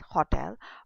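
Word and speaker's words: hôtel: If we have H O T E L hotel in English it will sound as hotel but in French it is hotel because H is silent in French language.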